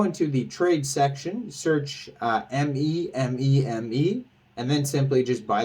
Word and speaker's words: MEMEME: out how it's pronounced I would assume it's meme me or me meme uh and not me me but uh yeah it's